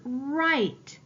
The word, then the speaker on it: right: remember let's look at the word right I have a ghost letter digraph I need to underline that I need to cross out my ghost letter I have a silent